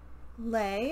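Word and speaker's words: Lei: And I think Lay, I believe is how you say her name, is pretty courageous.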